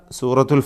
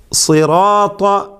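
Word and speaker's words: صراط: ശേഷം റാഉം അതിൻ്റെ അലിഫും, ഇതിലും തഫ്ഖീം നിലനിർത്തേണ്ടതാണ്. സിറാത്ത, ഇത് സിറാത്ത എന്നോ റാഇൻ്റെ കനപ്പിക്കൽ തഫ്ഖീം കുറച്ചുകൊണ്ട് സിറാത്ത എന്ന് മലയാളത്തിലെ റായോ ഒന്നും പറഞ്ഞാൽ ശരിയാവുകയില്ല.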